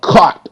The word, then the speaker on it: caught: a c c okay now you notice the GH makes no sound the GH is silent so you actually you're